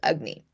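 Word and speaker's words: agni: So this is what ancient Ayurvedic texts and practitioners called ugnney. Now it's spelled a g n i but it's pronounced ugnney.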